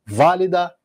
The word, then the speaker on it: válida: E se fosse proparoxítona? Válida e prática. Mesma coisa, bate junto com a tônica no quarto tempo, uma virada do compasso.